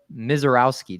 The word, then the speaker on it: Misiorowski: And Jacob Misiorowski.